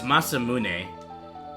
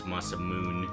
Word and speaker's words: Masamune: Again, it's Masamune, but um the uh the way I used to pronounce it back in the day was Masamoon.